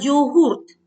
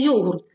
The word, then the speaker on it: йогурт: лате тирамісу суші йогурт Так саме йогурт а не йогурт так як ми звикли говорити тому що це слово запозичено із турецької мови а в турецькій мові наголос завжди падає на останній склад лазанья піца ескімо пельмені